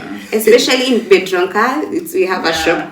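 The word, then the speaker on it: Biedronka: especially in Bedronka.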